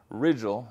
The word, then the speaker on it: Rigil: So, the uh Rigil is the pronunciation they've given us.